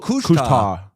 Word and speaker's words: couche-tard: Oh, the D is silent. Oh, couche-tard.